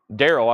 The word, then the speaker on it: Daryl: I'm saying that right I guess it's pronounced just like Daryl I guess that's one